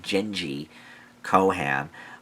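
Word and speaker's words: Jenji Kohan: It was created by, I think her name is pronounced Genji Kohan.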